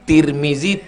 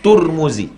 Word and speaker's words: Tirmidzi: tarmizzi ada atuknya Tarmidzi cara membacanya tiga tarmizzi Tirmidzi turmuzi bisa dibaca tiga tar Tir tur tarmizzi tirmizzi turmuz sama dengan Basri Hasan Basri Hasan Bisri Hasan busri bas bis bus ketiga-tiganya benar Bisri Basri artinya orang Basrah